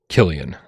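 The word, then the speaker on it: Cillian: He says it's pronounced Killian.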